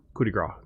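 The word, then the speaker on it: coup de grâce: Coup de grace is how it's actually pronounced.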